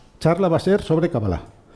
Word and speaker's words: Qabbalá: y que hace que la correcta pronunciación de la palabra sea cabala lo estoy exagerando a propósito para que se note bien cala la letra b se pronuncia dos veces es como si se aterrizara en la letra b y luego se despegara otra vez no kabala y se acentúa en la última sílaba kabbala Bueno ya os